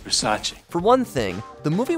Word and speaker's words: Versace: bombing of Showgirls nice dress thanks it's a Versace it's Versace what Versace it's pronounced Versace for one thing the movie was released with